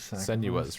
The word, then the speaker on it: Senua: Senua's, right. I always want to put a T in there for some reason.